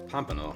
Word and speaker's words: pompano: away in the disposal golden pompano uh pompano rather proper pronunciation the fish is a very buttery nuts